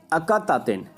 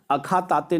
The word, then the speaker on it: Akhetaten: लिया इसने, AKHETATEN, ये अकातातेन। एच मत बोलिएगा, मैं अगर बोल भी दिया बीच में तो वो गलती होगी। अखातातेन नहीं है, अकातातेन, क्योंकि मैंने बोला एच साइलेंट है इन सब में।